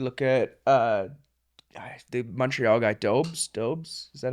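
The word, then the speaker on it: Dobeš: You look at the Montreal guy, Dobes. Is that how you say it? Dobes, yeah.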